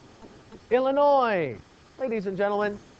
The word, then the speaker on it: Illinois: Illinois. Ladies and gentlemen, even though Illinois has an S at the end of it, you do not pronounce it.